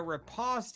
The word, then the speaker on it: riposte: I'm gonna riposte his stupid ass. Okay. Riposte? Yeah, that's the correct pronunciation.